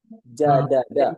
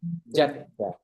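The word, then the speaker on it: جدّ: Jadada katanya gitu. Nggak ada, mereka nggak akan mengucapkan jadada. Mereka ucapkannya jadda. Nggak diucapkan jadada.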